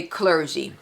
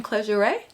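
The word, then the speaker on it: Clergerie: "Oh, do you mean Clergeray?" And I was like, yes. And so, not realizing it was a French brand, and Clergeray. So now I know how to say it. Clergeray. Clergeray. It's not clergy.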